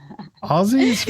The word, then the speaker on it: Aussie: Aussies, right? Aussies. Like Aussie Osborne, right?